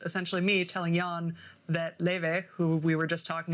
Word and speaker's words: Laufey: Wait, Leve? Yeah. Okay, I learned how to pronounce her name for this because I only learned about her because Hudson Williams was in her music video.